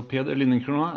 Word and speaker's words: Peder Lindencrona: So Peder Lindencrona, as you so correctly pronounced, Harry.